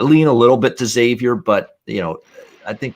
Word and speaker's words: Xavier: people call this team xavier i hear people pronouncing it xavier um xavier it's xavier think of it as